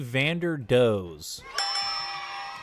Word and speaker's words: Vanderdoes: I think Nick Vanderdoes. All right, hold on. We're putting the mystery to bed right now. Okay, so it's actually Vanderdoes.